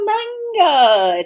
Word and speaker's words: manga: Now your next question for me is, but what about manga? Did you say we're going to talk about manga? Manga, which would be the correct pronunciation.